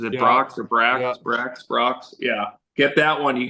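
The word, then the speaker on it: Brach's: that Brocks is it Brocks or bra BR Brocks yeah get that one you gotta get that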